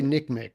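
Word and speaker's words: NCMEC: how do you say I say Nick Mech but that's how the rest of the country we say neck the country says neck Mech and it just like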